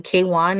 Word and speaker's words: KWN: Another person I think that really kind of balances it really well, there is this musician, K1. It's spelled KWN.